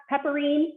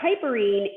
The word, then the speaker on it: piperine: that black pepper or the pepperine that you pronounce the piperine the compound in the